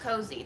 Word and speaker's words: Koeze: Pronounced Koeze.